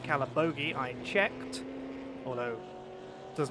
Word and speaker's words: Calabogie: in the voice channels this week, is definitely pronounced Calabogie.